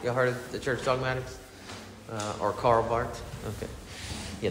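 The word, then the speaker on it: Karl Barth: the church dogmatics or Carl Bart okay yeah the H is silent just as you pronounce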